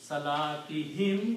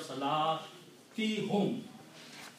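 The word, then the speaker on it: صلاتهم: Now, in order to make tajweed and pronunciation easy, we pronounce this dhamma as a kasra also.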